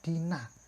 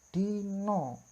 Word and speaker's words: dina: Berarti A ini dibaca O, karena A dalam bahasa Jawa tidak A ya, bukan A ya, tapi O. Misalnya, nah pasti anak-anak membacanya Dina, padahal Dina ini merupakan hari dalam bahasa Indonesia. Lalu membacanya bagaimana Pak? Dina ini membacanya yaitu Dino. Ini kan berubah menjadi O, A-nya berubah menjadi O.